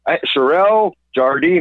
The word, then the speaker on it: Cherelle Jardine: Cherelle Jardine.